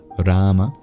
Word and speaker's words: Rama: after the other Rama the or of of Sanskrit is traditionally pronounced by curling the tongue back in retroflex you can either just make a vowel sound there orama or you can make a tap against the the hard palet Rama or if you're like